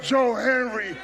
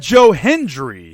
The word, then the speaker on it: Hendry: say his name he never said Joe Hendry he just kept calling him Joe Henry Joe Henry this Joe